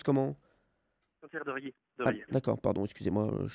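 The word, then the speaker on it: Saint-Hilaire-de-Riez: Ça se prononce comment? Saint-Hilaire de Riez.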